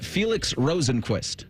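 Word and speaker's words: Felix Rosenqvist: Marcus Armstrong, Helio Castroneves, and then Felix Rosenquist. Did I say that? Did I pronounce that properly?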